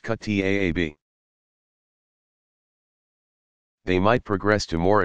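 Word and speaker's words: kuttab: Younger children attended a Quran school called a kutab, pronounced kutaab.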